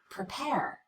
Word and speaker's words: prepare: The first syllable of the word prepare is the unstressed syllable. We cut the vowel, we rush through it as quickly as we can, even though the letter E is in the word as far as spelling.